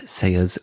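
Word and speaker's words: Saeah: her she's got a her first name is korean uh so it's spelled strangely it's s a e a h so if you go to s a e a h dot com is saya's website and she took care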